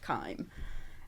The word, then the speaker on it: Kiem: And I just said, look, it doesn't matter, but it's actually pronounced Kiem.